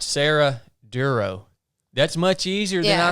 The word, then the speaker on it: Dorough: for the podcast yeah it's pronounced duro like thorough duro that's it yeah that's